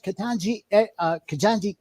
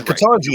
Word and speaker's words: Ketanji: Man, Ketanji is not a damn hard name to pronounce. It's not difficult at all. Listen. It's pronounced how it's spelled.